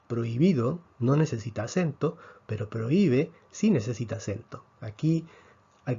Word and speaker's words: prohíbe: está así esta palabra se debe pronunciar en tres sílabas pro y be entonces prohibido no necesita acento pero prohíbe si necesita acento aquí